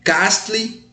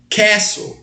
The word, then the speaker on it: castle: uma pronúncia oficial pessoal essa palavra o t é mudo não é Castle Castle Castle então no muro